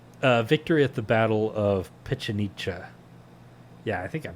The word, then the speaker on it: Pichincha: But victory at the Battle of Pichincha, yeah, I think I'm pronouncing that right, Pichincha, on May 24th, 1822, kicked all of the